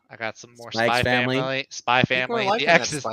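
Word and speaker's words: SPY×FAMILY: got some more family spy family the x is silent is it really yeah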